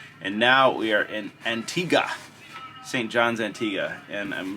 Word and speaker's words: Antigua: pool so I have a question you said Antigua yeah I was Antigua it's spelled Antigua but it's pronounced Antigua okay thank you yeah and Dominica is is